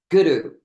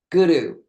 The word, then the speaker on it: guru: The first syllable of the word guru is pronounced as the word good, guru, guru.